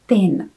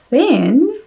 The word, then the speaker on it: thin: Já jsem ho hrozně dlouhou dobu vyslovovala jako tin. V americké angličtině tin znamená cín, zatímco v britské angličtině může znamenat například plechovku, ale s tímto významem se v americké angličtině moc nesetkáte. Ale toto slovíčko thin znamená buď tenký, anebo hubený. A teď se spolu podívejme na další příklad.